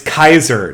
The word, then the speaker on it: Caesar: It's Kikero. And it's Kaiser, not Caesar. Because didn't you know, guys, Latin had a hard C, not a soft C.